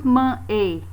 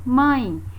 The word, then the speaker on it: mãe: E mãe termina com E, mas a pronúncia dela é um I. Esse E é pronunciado como um I. Nós não dizemos mãe, né? Dizemos mãe. Então, este som essa letra